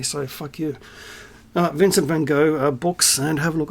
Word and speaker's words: van Gogh: Get out one of our Vincent van Gogh. I don't care how the Dutch pronounce it. This is how I pronounce it. I pronounce it the French way, so fuck you. Vincent van Gogh books, and have a